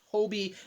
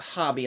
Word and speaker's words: Hobie: minor ruminations one yeah apparently his name this entire time is pronounced Hobie and not hobby like I've been saying